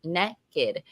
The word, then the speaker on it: Nekkid: Nekkid, pronounced Nekkid, is a readathon created and hosted by Black Prose Book Club that highlights Black love and Black romance.